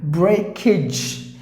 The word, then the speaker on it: breakage: Or in Tamil like A, breakage, and then this AGE you pronounce it like ij, like ij.